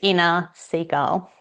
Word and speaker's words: Inna Segal: So it's inner seagull.